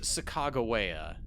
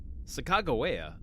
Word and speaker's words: Sacagawea: I've heard that it's pronounced Sacagawea. Sacagawea.